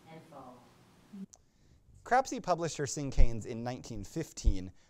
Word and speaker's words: cinquain: It looks like it's pronounced cinquain, but it's cinquain.